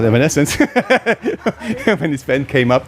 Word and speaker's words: Evanescence: uh a band that some Germans would say still say evanescini but it's called Evanescence when this fan came